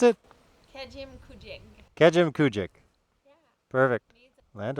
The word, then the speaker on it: Kejimkujik: starriest of Starry Nights all righty welcome to Camy junk kazoo Camy junk Port so how do you actually pronounce it Kim kuek Kim kuek yeah perfect land of the little